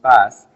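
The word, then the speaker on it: PaaS: a service pronounced sas platform as a service pronounced pass and infrastructure the service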